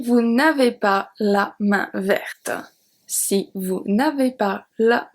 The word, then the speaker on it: verte: The last letter that I pronounce at verte is the T.